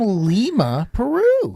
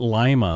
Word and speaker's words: Lima: I got you from Lima Peru from Lima Peru not Lima like the people who in the United States pronounce that place no no cuz that's